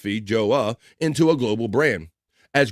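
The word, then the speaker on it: feijoa: Due to its short shelf life, New Zealand, a nation of thriving fruit exports, has never been able to spin the FJOA, pronounced Fija, into a global brand, as growers have done with apples and kiwis.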